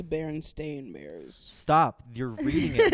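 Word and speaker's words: Berenstain: book before they uh people read them as Baron stein bears because that's how uh that's how it looked like it pronounced but then the writers were like no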